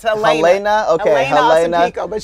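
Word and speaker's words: Jeļena: It's with the J, but it's Helena.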